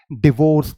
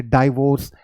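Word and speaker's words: divorce: American English convention में, आप इसे हमेशा डिवोर्स बोलेंगे, आप इसे डाइवोर्स नहीं बोल सकते हैं। राइट, इंडियन इंग्लिश में लोग इसकी प्रोनाउंसिएशन करते हैं, ये बहुत गलत प्रोनाउंसिएशन है। डिवोर्स इज the widely acceptable pronunciation. Okay, डाइवोर्स नहीं होता है, वो रॉन्ग प्रोनाउंसिएशन है।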